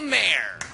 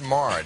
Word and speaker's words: Maher: or even sink please welcome the wonderful bill Mayer fighting Thank You it's pronounced Mar do you know that bill bill oh my